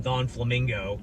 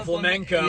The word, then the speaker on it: Flamenco: The one kid always called him Don Flamingo. That's what I call him. That's what I call him. Don Flamenco. Yeah, I call him Flamingo. Yeah, like the bird or whatever.